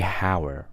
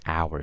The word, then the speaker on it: hour: The word hour, okay? I don't say hour, right? I say hour, so an hour, right?